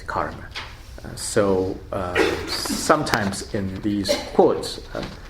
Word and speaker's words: karma: um anyway so uh in the pali uh pronunciation is kamma and then in sanskrit is karma so sometimes in these